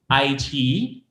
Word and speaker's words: iQiyi: Before I wrap up lang my side of the presentation, I like to, I guess, stress or reiterate that the pronunciation of the brand is iQiyi.